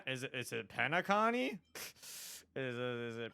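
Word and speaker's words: Penacony: feels quite similar to pentacon penacon okay thank you it's literally pronounced the way it looks I'm stupid for some reason I kept calling it peony I kept like not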